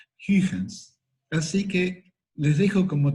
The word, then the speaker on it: Huygens: La pronunciación se parece a algo tipo Huygens, o Huygens. La G es una G suave, no es Huygen. No sería en castellano, no es una GU, sino que es una G. Huygens. Huygens.